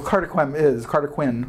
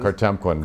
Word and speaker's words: Cartemquin: Well, Carter Quinn. Oh, Cartemquin. Cartemquin. I never pronounce it correctly. I'll never remember. Cartemquin totally is.